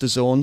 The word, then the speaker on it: DAZN: bit more on Dazn, pronounced Dazn, spelled capital Dazn.